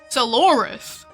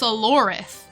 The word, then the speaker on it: Sorth: you won't miss much sorus no no it's pronounced sorth the final part is a little tricky for you humans it means hello in